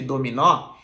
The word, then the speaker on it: dominó: tiro esse assento de dominó eu vou ter ali o verbo o verbo domino domino Olha só o fechado porque não tenha sempre Dominó O aberto que tem um acento então quando eu digo